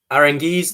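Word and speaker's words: Aránguiz: back to demi bray arangeez that's how you pronounce it orangu is arangeez tobacco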